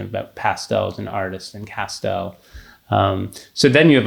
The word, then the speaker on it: Castel: people the mnemonic that my last name is castel yes and i've told you this it rhymes with pastel and my great grandfather